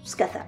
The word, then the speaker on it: skaða: Du coup, a priori ça se prononce « skatha », oui, comme c'était écrit en fait.